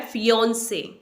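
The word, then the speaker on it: fiancé: है इसकी जो करेक्ट प्रोनंसिएशन है वो है फियांसे फियों से नॉट फियांसे फियांसे यह वर्ड है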